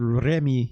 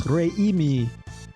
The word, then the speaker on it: Reimi: There's a lot of syllables in that more than I thought. I would have just said Remi, but no, it's Reimi. Gotta get that Japanese eye.